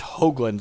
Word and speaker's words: Hoagland: It's Hoagland, long O. It's frequently pronounced incorrectly.